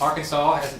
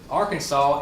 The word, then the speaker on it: Arkansas: cubing expands is that Arkansas ends in a silent s the apostrophe does not